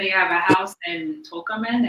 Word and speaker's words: Tocumen: He said he have a house in Tocumen. Am I pronouncing it right? Tocumen? Takumi. Takumi. Takumi, okay.